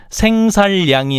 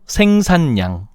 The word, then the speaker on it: 생산량: 임질란이 아니고 임진난 생살양이 아니고 생산량.